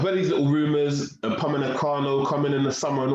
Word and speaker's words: Upamecano: It's Upamecano, but let's be realistic.